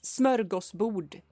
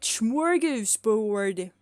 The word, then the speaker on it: smörgåsbord: It sounds so weird when people just, you know, Americans say smorgasbord because it's smörgåsbord, not smorgasbord.